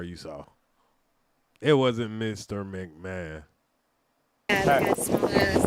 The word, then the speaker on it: McMahon: Even though it's spelled not... Yeah, it's McMahon.